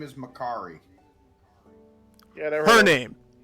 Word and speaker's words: Makkari: his name is Makari.